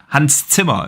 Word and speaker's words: Hans Zimmer: Hans Zimmer is actually how you pronounce it properly.